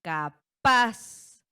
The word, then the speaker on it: capaz: Ejemplo, la palabra capaz. Capaz. Ahí está. Nuestra sílaba tónica recae en paz en la última sílaba.